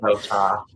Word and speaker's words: Votaw: I am with the queen of flash fiction, my friend, BETHANY VOTAW. Hi. Wait, am I saying that right, by the way? VOTAW?